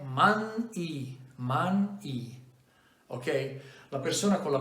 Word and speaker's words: Manyi: Ho dovuto farmi mandare la registrazione della pronuncia, perché non è Mangi, Magné, Magné, ma è Man-I, ok?